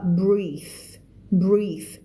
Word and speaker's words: breathe: พออ่านแล้วเริ่มแบบเอาแล้วไงเริ่มจริงจังแล้วนะ held his breath นะคะมาจากคำว่า hold his breath เอาความหมายเดียวกันก็คือกั้นหายใจเวลาเราฟังอะไรแล้วเราแบบ เนี่ยคำนี้ออกเสียงว่า breath เป็น th นะ breath อันนี้คือ noun ถ้าใส่ e เข้าไปจะเป็น verb กลายเป็นอ่านออกเสียงว่า breathe คนละเสียงนะ breath noun breathe verb นะคะ the largest